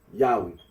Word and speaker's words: Yahweh: of those who regard this name as anciently pronounced Yahweh, like the Samaritans.